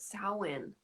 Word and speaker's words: Samhain: be back in scotland on samhain that's how you pronounce it samhain him to do so